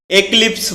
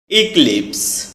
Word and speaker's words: eclipse: এটাকে আমরা একলিপস বলে থাকি। যার সঠিক উচ্চারণ হচ্ছে ইক্লিপস।